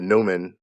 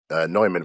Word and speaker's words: Neumann: here and i have the newman neumann from pronouncing right tlm-103 you know this